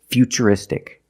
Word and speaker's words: futuristic: It's ch because we see t u r e. We pronounce the t as ch. And we see t u r i in futuristic. Again the t is pronounced with the ch sound.